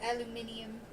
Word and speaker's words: aluminium: I have 200 aluminium.